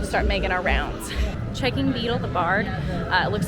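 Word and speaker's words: Beedle the Bard: was the tail of beetle The Bard um I catch myself saying it wrong a lot I say Beetle and The Bard it's Beetle The Bard now it is an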